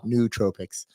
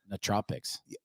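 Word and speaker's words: nootropics: just say it again say it fast no tropics yeah there you go New Tropics um and it's spelled n o o t r o p i CS yeah I even wrote it correctly and I I still said n Tropics perfect it still works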